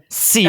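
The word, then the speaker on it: ciel: It's not spelled like It's that. CL and it's French for sky. So shut up, Tyler. Maybe brush up on your French pronunciation. Seal.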